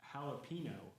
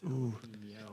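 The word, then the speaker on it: jalapeño: She says jalapeno, Yeah, exactly. Okay. Yes. and I said, Stephanie, do you see that little tilde over the end? You're saying it wrong. It's jalapeno.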